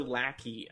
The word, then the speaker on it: Lackey: Lackey. Again, Lackey. L-A-C-K. Or as on we SoundCloud. like to pronounce it, Lucre.